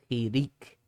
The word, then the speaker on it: chirik: All right, now we get to chirik. Chirik. It sounds just like that. That one little dot says e.